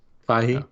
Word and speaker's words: Feige: Anyways, so, but I thought it was cool that they're doing the Statue of Liberty because, and Kevin, I always pronounce his Bacon. name, Feige.